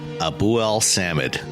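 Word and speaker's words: Abuelsamid: So you break it up to Abu El Samid. Right, just kind of phonetically.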